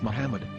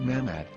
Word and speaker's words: Muhammad: yahuda Hebrew English dictionary it is correctly pronounced as Muhammad not mammad so how we're going